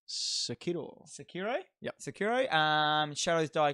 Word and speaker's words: Sekiro: It's Sekiro.